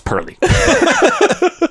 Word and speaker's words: Pearly: I mentioned to you, somebody in the comments were like, I know that you guys are mispronouncing it, and you might just forgotten because it's been a while, but it's Pearly. Not Percy.